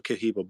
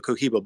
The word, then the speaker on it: Cohiba: filler sort of of the caha blue the keep saying it wrong the Cohiba blue right but what's funny is